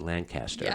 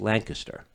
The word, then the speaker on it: Lancaster: when someone does not know lancaster because they pronounce it lancaster yeah that's exactly right is that right oh yeah so when someone says oh i'm going to lancaster no you're not you don't know where you